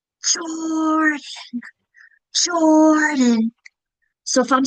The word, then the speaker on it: Jordan: doing it to whisper, my first syllable is a little louder than the rest. I can clap it. Jordan. Jordan. My first clap is louder because that's the accented part of the syllable.